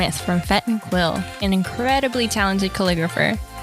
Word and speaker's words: Fête: So Fête rhymes with bet. Most people always call it like feet.